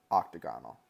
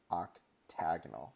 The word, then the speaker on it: octagonal: But when you get to shapes like this, just so you know, that's not hexagonal, octagonal. It's hexagonal, octagonal. That's how you pronounce it, which, you know, might not ever come up in your life.